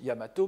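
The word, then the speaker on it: 大和: c'est à dire que normalement c'est daiwa qui est écrit qu'ils se prononcent yamato mais on peut aussi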